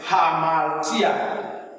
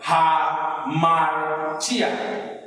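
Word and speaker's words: ἁμαρτία: Now, this rough breathing mark has the sign of H in pronunciation. If you want to pronounce this word now, you must pronounce this breathing mark as H. So in this word now is hamartia, hamartia, hamartia.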